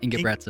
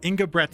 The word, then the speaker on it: Engebretsen: I'd like to introduce my guest on the podcast today, and now I forgot to ask how to pronounce his name. Engebretsen? It's Engebretsen. Engebretsen.